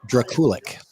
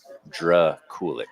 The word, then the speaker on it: Draculic: Draculic. Draculic. Okay. Yeah. Just like it's spelled.